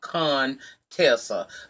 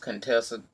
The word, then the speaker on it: Contessa: falling out with doctor as you call a con Tesla but you know it's pronounced Contessa heavenly being shaded and